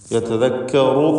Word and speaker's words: يتذكر: യതദക്കറു എന്ന് പറയുമ്പോൾ റാഇന് തഫ്ഖീമുണ്ട്.